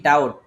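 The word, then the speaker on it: doubt: দেখেন আমাদের নিয়মটা কি বি এবং টি দুইটা যদি একসাথে থাকে তাহলে বি এর উচ্চারণটা হয় না তাহলে এখানে যদি আমি বি এর উচ্চারণটা বাদ দিয়ে দেই এখানে যদি এটা কালারিং করে দেই তাহলে বলেন তো এটার উচ্চারণটা কি দাড়ায় হ্যাঁ তাহলে আমাদের এটা হচ্ছে কি ডাউট মানে আমরা বলি না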